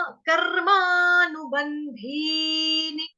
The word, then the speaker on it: कर्मानुबंधीनि: कर्माणु, कर्मा, कर्मानुबंधीनि, कर्मानुबंधीनि। बंधी के बाद जो मात्रा है वो बड़ी वाली है, वहां पे स्वर को थोड़ा सा धीर करोगे, कर्मानुबंधी, ठीक है।